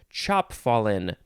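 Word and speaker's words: chapfallen: this episode i think i shall pick chop fallen but it's spelled chap fallen because it's uh having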